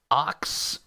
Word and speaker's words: oxaliplatin: The particular chemotherapy drug they're using in this is oxaliplatin. I have the pronunciation.